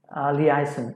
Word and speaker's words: liaison: And liaison, this is the pronunciation is liaison, which means communication with others.